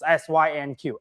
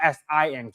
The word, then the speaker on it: SYNQ: It's SYNQ, SYNQ, not SINQ. It's SYNQ. So I know a lot of fans, like especially they look at the roadmap.